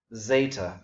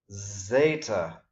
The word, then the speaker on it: zeta: Zeta. Notice again I'm pronouncing the second letter here as the long E, just as I did with beta. Zeta, as opposed to delta.